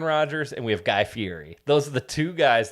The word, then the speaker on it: Fieri: Fieri is how you pronounce it.